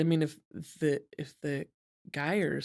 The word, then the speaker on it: Geier: Geier Geiers I think it's pronounced Geier. Geiers, rhymes with fire.